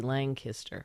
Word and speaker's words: Lancaster: it three different ways Lancaster is it Lancaster is that what we're saying l-a-n-g and then kiss and then ter t-e-r Lang history so we you added G langister yeah like Kenny G